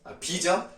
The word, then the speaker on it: 비: 자, 일단은 배 오는데 들에 가겠느냐 이렇게 해석을 합니다. 여기 배라고 읽었나요 혹시? 비죠? 네, 비 오는데 들에 가랴. 그러니까 비가 오니까 들에 나갈 이유가 없는 거예요.